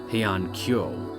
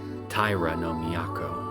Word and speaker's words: Taira no Miyako: The Heian Palace wasn't pronounced as Heian Kyo, but as Taira no Miyako.